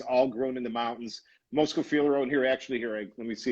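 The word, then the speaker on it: Moschofilero: maybe you can give us even a little pronunciation. Pretty good. I will, and Keith, you are excellent, by the way. So Moscofilero, etymology of the word is Mosco.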